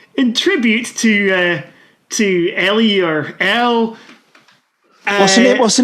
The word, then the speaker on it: Elle: So I thought we'd finish off in tribute to Ellie or Elle. What's the name again? It's either Elle Hunt or Elle Hunt. It's spelled E-double-L-E. It's not M Hunt.